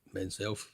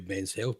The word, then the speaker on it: Menself: It's pronounced Menself, but it could be Men's Health, but it stands for Men Encouraging and Nurturing Self-Efficacy to Live Life Fully.